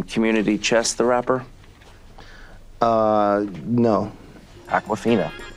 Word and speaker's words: Awkwafina: Awkwafina. Awkwafina. Like the water? Well, it's spelled differently.